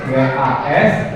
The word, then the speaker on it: was: Karena tadi ada beberapa yang salah nulis, harusnya was, W-A-S, walaupun bacanya E ya. Karena dalam bahasa Inggris pengucapan sama yang ditulis ada berbeda.